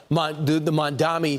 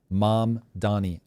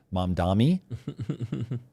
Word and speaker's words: Mamdani: There's something about Mamdani. My brain always wants to slow down or call him Mamdami.